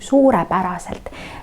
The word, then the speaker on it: suurepäraselt: Удваиваем две У. Suurepäraselt.